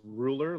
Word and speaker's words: Rouleur: extra vowels in it it's pronounced ruler like a king or a measuring tape but it's a it's